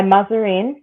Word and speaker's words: Mahzarin: Blind Spot, Hidden Biases of Good People by Mazarin, which is spelled Mahzarin, Banerjee, which is spelled Banaji, and Anthony G.